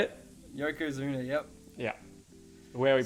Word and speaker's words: Yokozuna: Yokozuna, yep.